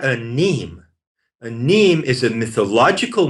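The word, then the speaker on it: mneme: is spelled MN e m a neem it's pronounced neem it could be NE M A neem I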